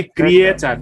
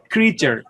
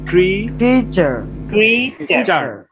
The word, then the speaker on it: creature: আচ্ছা আমরা বলি ক্রিয়েচার। দেখেন ক্রিয়েচার, এটা শুধু পড়ে যাওয়ার ব্যাপার না যে আপনি মুখস্থ করে ফেলেন, না, কোনো লাভ নেই যদি উচ্চারণ করতে হয়। উচ্চারণ হবে ক্রিচার। বলেন ক্রিচার।